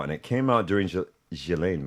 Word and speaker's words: Ghislaine: And it came out during Ghislaine Maxwell, I believe is the proper way to say it.